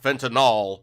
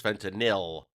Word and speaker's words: fentanyl: some pronunciation practice sir it is not fentanyl is fentanyl a anyway Americo recognized